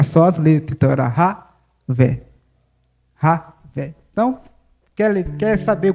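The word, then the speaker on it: Yahweh: O nome de Deus no hebraico você se pronuncia Ravé.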